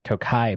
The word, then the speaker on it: Tokaji: excited um this is a whiskey finished in Tokai barrels good job on the pronunciation I know I practice Yeah 124.64 proof